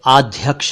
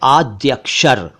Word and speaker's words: आद्य अक्षर: शंकराचार्य एक शब्द है आद्य अक्षर आद्य अक्षर का मतलब है इनिशियल्स इसे अध्यक्ष या आध अक्षर ना बोले यह है आद्य अक्षर एक शब्द है वैद्य